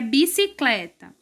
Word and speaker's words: bicicleta: a vocês, que é bicicleta. Na palavra bicicleta, o clé é mais forte. O clé, qual é a posição do clé? É penúltimo lugar, penúltima sílaba. A penúltima sílaba é a mais forte.